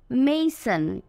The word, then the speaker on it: mason: মেসন লেখা আছে MASON, আর এখানে যে MA আছে এটার উচ্চারণটা হবে মেই। মেই, মেসন, মেসন, মেসন।